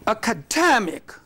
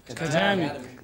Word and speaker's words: academic: So it is this stress that changes.